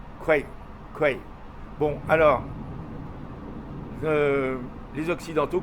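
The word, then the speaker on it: แคว: Parce que Kwai, que nous on prononce Kwai comme ça se prononce en thaïlandais, ça se prononce Kwe. Kwe.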